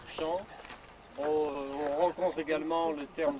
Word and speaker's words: Cham: La Chambre, ça s'écrit C-H-A-M, ça se prononce champ.